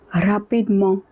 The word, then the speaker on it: rapidement: All the adverbs that have ment at the end, in that case it is pronounced as mo, rapidement, meaning quickly.